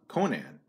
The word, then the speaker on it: Conan: first uh go ahead king size con it's pronounced conan so conan the barbarian and here's who's writing